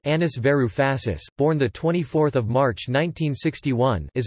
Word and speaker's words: Yanis Varoufakis: Giannis Varoufakis, pronounced Anis Varoufasis, born 24 March 1961, is a Greek economist,